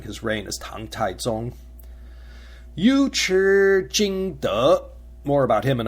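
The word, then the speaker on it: 尉迟: the first character of Yu Chi, Yu, is actually pronounced Wei. But when it's used as a surname, when the character Chi follows, the Wei becomes a Yu instead.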